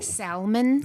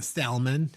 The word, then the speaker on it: salmon: Salmon. Salmon. There's no You don't pronounce the alo people.